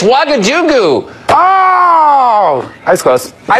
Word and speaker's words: Ouagadougou: I don't know if I can pronounce it. I don't know. It's Ouagadougou.